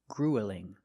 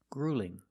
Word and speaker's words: grueling: don't pronounce this word gruelling it's not gruelling it's grueling grueling the first vowel is the long ooh like food and boot grw grueling grueling and